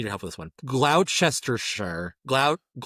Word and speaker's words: Gloucestershire: Well, see, I feel like they're skipping like 5 syllables in that. Well, it's like Worcestershire sauce. Well, again, it looks like Worcestershire. Like it. Yeah. They skip so many letters.